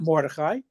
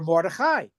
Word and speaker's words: Morai: You're not Mori. You're Morai." Emphasis on the last syllable which is grammatically correct Hebrew.